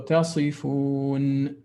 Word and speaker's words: تصفون: Actually, what I was pointing out is that the noon wasn't pronounced for you, but you pronounced the rest fine. So تصفون, because I had the impression that you just said تصفو. So I wanted you to hear exactly. I wanted you to pronounce the noon clearly.